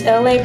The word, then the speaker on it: Elay: My name is Elay, pronounced like, like the city.